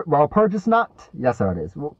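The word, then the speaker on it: Walpurgisnacht: a ra perus notot I forgot how to pronounce that while P while purges not yes sir it is while purges not while purges one of those yep a colossal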